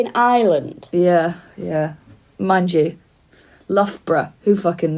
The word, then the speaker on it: Loughborough: __ ] knows who if you'd only ever seen that written down hey Loughborough Chris Doug's got great my sister about that uh someone who knows pronouncing it luga bruga hahaha I actually went